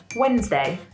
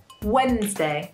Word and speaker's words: Wednesday: So we have Monday, Tuesday, and then we have Wednesday. Wednesday. This word is quite long and there's a D in the middle.